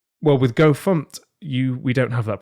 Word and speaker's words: fmt: something and I and I say the fum package for example which is you know it's people kind of look at me sideways I'm like yeah I know I know just Just go with it right because if you if if you say instead if you say fmt or or format God forbid like you know Gophers are going to look at you a little weird Just Go With It